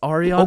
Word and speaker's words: Ariana: Sorry, it's Ariana. Okay, and? Like what's your point? That's just how it's pronounced.